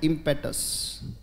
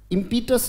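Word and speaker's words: impetus: motivation क्या होता है, इम्पेटस उच्चारण है बेटा, क्या उच्चारण है, इम्पीटस नहीं, इट्स इम्पेटस, बोलो शाबाश, मोमेंट्री एनर्जी,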